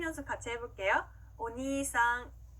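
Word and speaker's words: お兄さん: 자, 오빠, 형이라는 단어는요, 오니이상이 아니라 오니상, 이렇게 니를 길게 늘려주시면 됩니다. 자, 발음 연습 같이 해볼게요. 오니상, 오니상.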